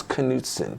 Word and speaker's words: Knudsen: for the first time ever i have knutson welcome to the show thank you did i pronounce the name right yes okay um and